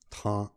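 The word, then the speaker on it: táá': I don't know why they pronounce it kind of a th, a harsher T, or at least that's how I remember them saying it, ta, ta, even though there's no apostrophe or anything special there, ta.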